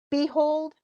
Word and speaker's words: behold: So in behold, which one has the most stress? Is it behold or hold? Yeah, so you can hear that.